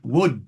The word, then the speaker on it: would: You'll perhaps have noticed uh the L pronounced another silent letter in words like would and should and could.